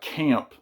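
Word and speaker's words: Caamp: groups New groups uh Camp it's pronounced camp with two A's this is their album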